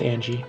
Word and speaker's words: Ange: It's pronounced. I believe it's pronounced Angie.